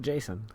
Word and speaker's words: Geycen: GEYCEN. That's GEYCEN. And I pronounce it Jason.